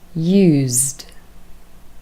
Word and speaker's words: used: Now, the next group are verbs where ed is pronounced with d, the voiced consonant d. Sounds a lot softer than t, which is a bit harder. So listen and repeat. Used, used.